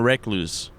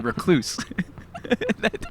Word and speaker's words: recluse: that dude just became a recluse. A recluse. that dude just became a recluse. Hey, in my head, I saw the dictionary phonetic spelling, and it's like two syllables.